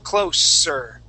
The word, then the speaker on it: closer: closer close Clos okay you're vibrating you're saying Z we want to say Sir closer okay closer okay good